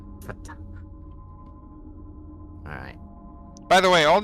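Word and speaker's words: fhtagn: Okay, how do you pronounce that? Fatang.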